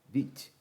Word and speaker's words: Vite: E aqui eu vou dar um yarn create vite. A pronúncia correta é Vite.